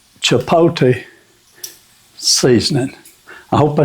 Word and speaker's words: chipotle: was reading the bottle if you read it the way it's spelled I was saying chiple and she had a good life out of that but anyway it's chipot so I'm going to go